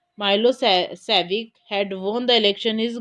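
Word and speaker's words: Milošević: A narrow-minded Serbs nationalistic Milosevic, pronounced Milosevic, had won the election.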